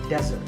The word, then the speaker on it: desert: not be confused with here the stress is on the first syllable which is death desert now I set the